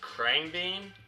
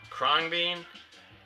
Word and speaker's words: Khruangbin: So the first one I ordered was, I think it's pronounced Khruangbin. Some terrible glare there. Khruangbin.